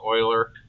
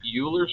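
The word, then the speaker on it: Euler: And then the other one was Oiler. It's spelled Uler, but it's pronounced Oiler again French. And I would say, uh, do we do we use Uler's method?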